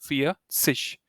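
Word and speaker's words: vierzig: 40 and 50 right how do you say 40 you say for so fear and you add sish feish some depending on where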